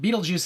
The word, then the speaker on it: Betelgeuse: So you and I and other people who are sci-fi fans, we know that Beetlejuice is a star. It's referenced in Hitchhiker's Guide to the Galaxy, you know, and it's spelled Betelgeuse, right?